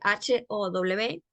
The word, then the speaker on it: How: How do you do la palabra How se escribe h o w se pronuncia h a w How la W se puede pronunciar como una u How y la palabra